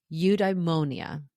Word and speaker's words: eudaimonia: It's called eudaimonia. Eudaimonia. If you see the word and you try to pronounce it, you'll get tripped up.